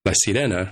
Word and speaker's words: La Sirena: I was pondering and curious about, is it La Sirena or La Sirena? And I wasn't really going by how the show pronounces it, right? I went to look it up. And as far as I can tell, I believe it is La Sirena without the ñ part, at least as I